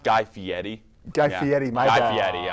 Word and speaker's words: Guy Fieri: Actually, guys, it's pronounced Guy Fieri.